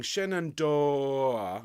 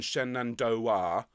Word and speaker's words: Shenandoah: terms of pronunciation uh if we could all sing shenandor rather than shenandoah okay i think you make a nicer sound okay so this first